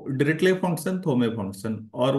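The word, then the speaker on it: Dirichlet: लोग दो फंक्शन देखिएगा एक तो डी आई आर आई सी एल ई टी हम लोग इसको पढ़ते हैं डायरेक्टली टी साइलेंट होगा और दूसरा पढ़ते हैं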